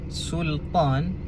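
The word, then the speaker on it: Sulṭān: Kesilapan yang biasa dibuat adalah kebanyakannya suka menebalkan huruf lam. Sebab apa tebal? Biasanya sebab terikutlah dengan huruf tebal selepasnya.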